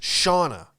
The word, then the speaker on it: Shauna: that made the sandwich her name was shauna my name with an a at the end basically is how you pronounce it and i truly believe